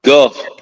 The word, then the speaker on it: Gulf: But you got to repronounce that it's Gulf, not golf.